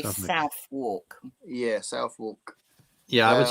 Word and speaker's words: Southwark: Southwark. More like Suffolk. Yeah, because you might look at that, mate. You might want to say Suffolk, mightn't you? But it's Suffolk.